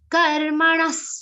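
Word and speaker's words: कर्मणः: Karmanas sukrutasya Karmanas, Visarga's pronunciation is like sa.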